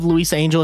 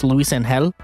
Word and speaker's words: Luisangel: But also, I looked it up, and instead of Luisangel, it's Luisangel.